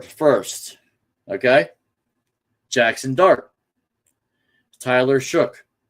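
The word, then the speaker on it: Shough: Tyler Shook. I think I think that's how you pronounce it. Shook. That G that gh is a is a shook.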